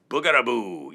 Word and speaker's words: bougarabou: Boogadaboo. Yeah. Mick came up with the boogadaboo. I was going to say I just gave you another clue because the end of the word rhymes with clue.